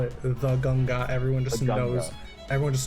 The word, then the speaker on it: Ganga: oh nice nice like in in Hindi or odia we don't even call it the ganga River we literally just call it the ganga everyone just knows everyone